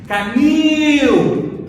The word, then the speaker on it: canil: casinha do canil, chama canil. Olha lá, canil. Qual que é a sílaba mais forte? É o K ou o nil? O nil. Então a sílaba forte é o nil.